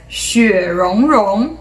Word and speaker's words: 雪容融: It's called as 雪容融雪容融. So these are the correct Chinese pinyin way, and we have also seen the English spelling right here.